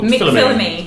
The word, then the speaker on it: McPhilimey: McPhilimey. Perfect as well. Perfect. Yeah. Oh, thank you very much.